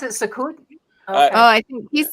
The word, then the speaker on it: Sukkot: Oh, is that how you pronounce it? Sukkot?